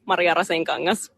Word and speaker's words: Maria Rasenkangas: Hello, my name is Maria, and the Finnish pronunciation of my name is Maria Rasenkangas.